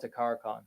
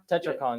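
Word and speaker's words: Tetrakarn: No, he's talking about Takara-Con. Yeah, Takara-Con. Tetracon, yeah, sorry. Tetracon, that's what I didn't know how to pronounce the name.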